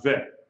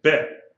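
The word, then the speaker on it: ב: without any guess really in the letter bait if it doesn't have a guess it's pronounced vet a v sound if it has a guess it's bet a b sound so as we say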